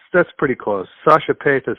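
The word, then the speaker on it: Sascha Paeth: you once again work with uh is it sasha poss that incorrect but yeah well it's it's that's pretty close sasha pace is how you pronounce it but it's it's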